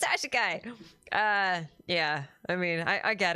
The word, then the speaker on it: Ys: I talking about Ys yeah yeah it's it's pronounced ye not pronounced Wise It's pronounced ye I'm not missing a